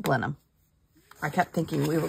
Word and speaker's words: Blenheim: there's blenham ginger beer but it's called Blenheim they pronounce it blenham I kept thinking we